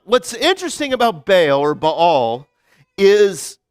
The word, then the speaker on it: Baal: One of the reasons why he's done more evil is that he has instituted worship of Baal or the correct pronunciation is Ba'al, right?